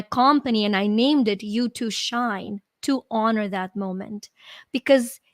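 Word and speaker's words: YU2Shine: And so in 2013, I actually started my company and I named it You to Shine to honor that moment because it's spelled YU number 2 shine, and it's a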